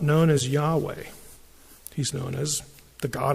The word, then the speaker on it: Yahweh: is I am which in Hebrew when the first person speaker is speaking is eh yeah when you refer to that person the pronunciation is Yahweh and Yahweh you know